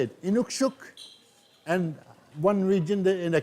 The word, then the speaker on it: Inukshuk: the SH on the shuk part, but the Inukshuk is, yeah, it's pretty much one way to say it. And actually, I had a debate with somebody one that said there's two ways to say it, Inukshuk, and one region in the community they said